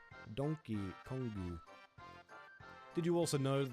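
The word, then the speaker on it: ドンキーコング: a bootleg version of how Donkey Kong is pronounced in Japanese. Donkey Kongu.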